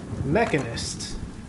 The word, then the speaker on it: mechanist: The trophy, it was spelled with an E, so it's not like a machinist, but it was a more of a mechanic, a mechanist. It's an interesting way of saying it, actually.